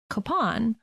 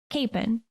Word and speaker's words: Kapaun: It's spelled Kapaun, and there are many who pronounce it Kapaun, and that seems to be a perfectly acceptable pronunciation. But it seems that the people from closer to his hometown, Pilsen, Kansas, pronounce it Kapaun.